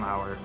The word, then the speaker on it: Lauer: You can follow me on Twitter at Lauer_Ryan, Lauer spelled like lore.